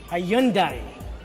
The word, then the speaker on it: Hyundai: brand is it highly Hyundai or is it your name that's easy its Hyundai like Sunday there you go told